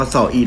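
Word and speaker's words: Samhain: ให้ ทุก คน ก็ บาง คน อาจ จะ อ่าน ว่า ตาม High ก็ ได้ นะ แต่ จริง ๆ แล้ว มัน ออก เสียง ว่า สอบ E นะ ทุก คน อัน นี้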